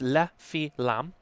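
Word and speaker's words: Les Fines Lames: Because I don't speak French, and but it's pronounced La Filam, and you've probably noticed them from their knife cutters.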